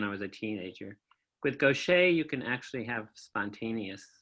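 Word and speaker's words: Gaucher: diagnosed me with something called gocha disease which I'll spell it's g a u c h eer was a French doctor named gocha who identified this and around the turn of the 20th century.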